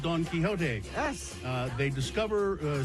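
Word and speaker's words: Don Quixote: why is it called Don kiote yes uh they discover uh something new every time they visit the franchise was named Nam after the literary character Don keyote although it's spelled different mhm uh and uh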